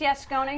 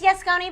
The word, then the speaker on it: Yascones: a teaser it's she's saying it right it's yes Connie yes yes Connie but we say yes no we got we